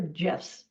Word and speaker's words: GIF: use gifts um and gifts are pronounced gifts or gifs doesn't matter you can pronounce it either way this is my favorite